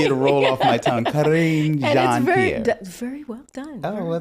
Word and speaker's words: Karine Jean: Karine Jean.